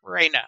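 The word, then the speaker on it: Rhaena: Raina.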